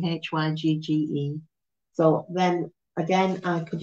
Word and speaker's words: hygge: Huger. I think that's how you pronounce it. It's very strange pronunciation. You might know it better as Higgy, Hygge.